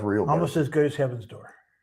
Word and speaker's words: Heaven's Door: Almost as good as Heaven's Door. Gate.